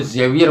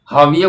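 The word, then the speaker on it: Javier: अंग्रेजी में अगर आप इसे पढ़ोगे तो आपको जेवियर मोरो आप पढ़ेंगे, लेकिन स्पेनिश में हाविये को जेवियर लिखा जाता है। उसका जो प्रोनाउंसिएशन होता है, उच्चारण होता है, वो हाविये है।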